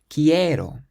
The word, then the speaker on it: quiero: Quiero, quiero. So quiero. There are 3 syllables and we stress the one before last, which is the e.